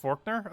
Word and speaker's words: Faulkner: pretty much broken ability a Faulkner is pronounced Forkner okay I've been pronouncing it wrong forever though what words